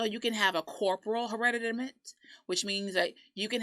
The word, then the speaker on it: hereditament: it admit already meant here it's a t but it sounds like a d and doesn't sound like hereditary yeah hereditament right and what it's